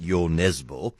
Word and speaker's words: Nesbø: The thriller is a new one by the Scandinavian great Nesbø. Apparently that's how you pronounce his name.